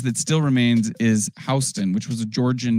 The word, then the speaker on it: Houston: I guess Sam Houston could have been Houston. Sam Houston doesn't sound as tough as Houston or Austin or Dallas, right? So that's why we call Houston Street rather than Houston, how it's spelled today.